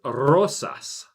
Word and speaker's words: rosas: Normal people would just pronounce it like rosas. Well, it's rosas. You got to say it right.